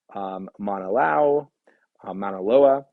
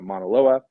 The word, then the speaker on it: Mauna Loa: And you can see its dramatic comparison, Olympus Mons compared to Mount Everest, or even Mauna Loa, mispronounced it there, but Mauna Loa, or the Maxwell Mountains, which I believe are on Venus.